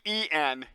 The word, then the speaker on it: Deen: I wonder if Dean's still around. Or if they got like taken over or dissolved or something. Or rebranded maybe. Deek? Dean, Dean, basically. Deen. Same pronunciation.